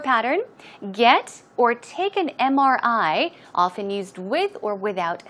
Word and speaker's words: MRI: an MRI now also notice MRI it starts with a consonant right but the M when you pronounce the M you pronounce it as m m it starts with a vowel sound e and that's why it should be on MRI not a MRI okay keep that in mind